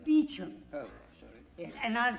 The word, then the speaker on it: Beauchamp: It's pronounced Beecham.